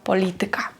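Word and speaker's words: polityka: пам'ятати і розуміти що іменники які закінчуються на ікка за винятком слова музика ораз Паприка будуть мати наголос не на перед останній склад як більшість слів польській мові а далі напевно вже Вам вирішувати Як вам говорити звикати але правильно казати математика фізика політика мами тутй приклад польська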